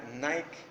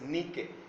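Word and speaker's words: νίκη: tomada para el inglés que conocemos que se pronuncia nike pero es ni que desee esa palabra griega de ahí fue tomada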